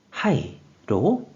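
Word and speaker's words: 肺: 그래서 폐, 허파폐가 되었고 뜻으로는 발음이 없고 음으로만 하이로 읽는다고 설명드렸어요.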